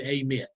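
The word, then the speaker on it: Amite: And on the west side of that lake comes a large river out of Mississippi that's called the AMIT. That's spelled A-M-I-T-E.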